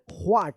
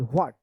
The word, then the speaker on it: what: नहीं, व्हाट, इसमें व का उच्चारण आता है, व्हाट।